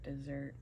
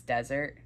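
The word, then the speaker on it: désert: Flirt Dessert. It's supposed to be like the desert or whatever. Something like that. So there's four fragrances in the lineup. It's not dessert. It's desert. Well, I'll show you how it's spelled.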